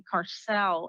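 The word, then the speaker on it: Kasrils: Defense of South Africa, Ronnie Carcel, I believe is how you pronounce his last name, is the Faustian bargain.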